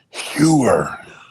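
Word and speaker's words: Heuer: do it New York we pronounce it hoer no it's around with sewer oh Herer so this this piece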